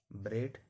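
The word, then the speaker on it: bread: तो पहला जो है हम लोग पढ़ेंगे ए ए कब साइलेंट होता है? अगर ए के पहले इ हो कोई भी वर्ड हो जिसमें ए के पहले इ हो उसमें ए साइलेंट रहता है। यानी ए को पढ़ना नहीं। ब्रेड हेड।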